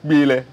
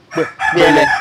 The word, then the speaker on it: Kpielle: Il n'est pas donné à n'importe qui de pouvoir ça, le prononcer. Oui. Surtout mes cousins ou mes petits-fils, moi aussi, là, oui. Ils n'ont pas le son peu. Okay. Dans leur langage, si bien, ils ne peuvent pas prononcer.